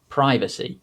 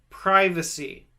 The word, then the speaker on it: privacy: simultaneously dynasty privacy simultaneously hopefully you could clearly hear the difference between that i sound in the ga example like the letter i and the e sound that i did in the received pronunciation accents now the other time